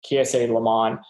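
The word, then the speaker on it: Kiese Laymon: messed it up um ksa is k i e s e and then layman is l-a-y-m-o-n um ksa lemon uh at least how i've been told to pronounce it um he's he's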